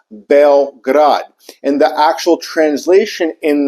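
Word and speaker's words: Beograd: that's actually how you say it it's actually pronounced belrad and the actual translation in that uh word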